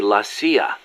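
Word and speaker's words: la CIA: around here they say lasya instead of CIA huh yeah nothing strange about it that's how it's pronounced when you read it in Spanish it has the feminine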